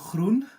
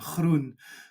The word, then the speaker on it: Groen: my Korean name, but mostly with my Dutch last name, Groen, because of the Dutch pronunciation. It has this very hard sound, which comes from the back of the throat. So we often say the way to learn to pronounce that is to pretend you're spitting and Groen I felt the with a spit.